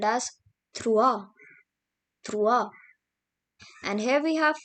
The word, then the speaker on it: trois: Now comes 3, which is called as trois. And here we have 4, which is pronounced as quatre.